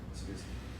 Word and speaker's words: Lysippus: Okay, Lysippus, and Democritus, to be presented in the next chapter, is an outstanding type of such reductionism in ancient Greece.